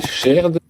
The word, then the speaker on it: shared: cette architecture avec un dossier shared, prononcé à la française, hein, vous connaissez, et on pourrait imaginer donc ce dossier shared qui est vraiment, par